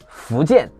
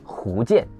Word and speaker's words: Fujian: For instance, many people in Fujian or Hunan struggle with distinguishing he and fu sound. Like Hunan, they might pronounce Funan. Fujian will be Hujian.